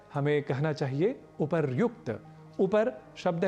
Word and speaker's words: उपर्युक्त: शब्द मिलेंगे संधि होगी तो शब्द बनेगा उपर्युक्त ना कि उपरोक्त यदि ऊपर ऐसा शब्द